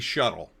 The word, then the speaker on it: SHTTL: A shuttle normally spelled with an e sh e tl. For some reason they left off the e. I think it was a huge mistake. I think the normies will pronounce that in a different way. And it won't be shuttle.